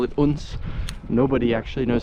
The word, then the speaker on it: Odense: We're just kind of outskirts of Odense, or Odense as they call it here. They call it Odense.